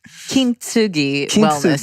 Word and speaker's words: Kintsugi Wellness: Kintsugi Wellness.